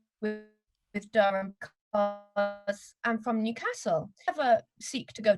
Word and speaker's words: Newcastle: I know that people in Newcastle pronounce it Newcastle, but if I pronounce it Newcastle, I look like a wanker.